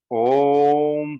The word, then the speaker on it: ओम: आधे अनुपात में ओ और आधे अनुपात में मुख बंद करके माँ का शुरू करते हैं।